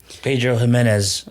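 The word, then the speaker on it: Pedro Ximénez: Now I will not try to pronounce what PX stands for. Pedro Jimenez.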